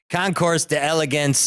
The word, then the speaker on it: concours d'elegance: with pronunciation here guys concore de elegans from La Jolla California and that's coming from a Chicago guy which would normally be like concours d'elegance in la jolla CA but but seriously folks the the concours I believe or or at Clinton's gonna give us a correct pronunciation in just a second but this n n he just told me it's tan it's it's French for competition of elegance yes and it's a